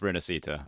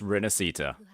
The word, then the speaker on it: Rinascita: Oh, so I have been saying it correctly. It is just Rinascita.